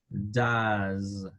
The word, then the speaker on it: does: Entonces, de pronunciarse como do, se pronuncia como does, does, does.